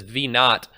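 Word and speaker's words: v naught: equals v1 minus v-0 sometimes this is pronounced as V not by the way the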